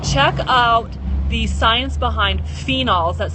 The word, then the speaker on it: phenols: science behind this, check out the science behind phenols. That's spelled P-H-E-N-O-L-S, phenols.